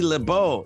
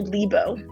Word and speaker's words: Lebow: her name is lebeau yeah welcome to the studio thank you thank you for having me is it is your last name lebeau or uh it's actually libo libo i've heard multiple